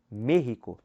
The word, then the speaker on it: México: O E tem acento agudo, mas é fechado. No espanhol não tem essa relação de ser aberto, não existe circunflexo. Mas é a sílaba mais forte, você coloca para você falar México.